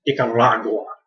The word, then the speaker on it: Nicaragua: about Central America, and he said Nicaragua. He did that rolling R thing.